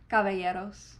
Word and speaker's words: Caballeros: Caballeros.